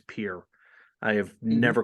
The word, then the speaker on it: Pierre: so well just like just like Pierre is here it's Pierre yeah and I said Pierre and I'm thinking I'm thinking oh he said Pierre but and you know what I am this much old when I realized it was pure I have never called